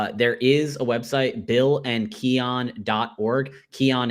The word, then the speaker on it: Keonne: Keon is spelled Keonne.